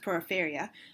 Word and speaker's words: Porifera: They are members of the Phylum Porifera, and Porifera are sometimes pronounced Porifera. I googled it. You can do either way.